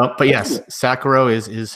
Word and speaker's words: Sacharow: I am actually astonished you're the one of the few people who pronounces the CH correctly but yes Sakura is is how you